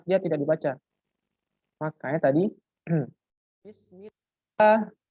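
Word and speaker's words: بسم الله: Makanya tadi bismillah ya, bismillah, bukan bismi Allah.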